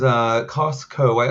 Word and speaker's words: Costco: It's got a very his name is Costco. I feel like I've heard that name before. I mispronounced it the first time I saw it. I'm like, Cusco? And it took me a second. It took me at least once of hearing you say it before it clicked.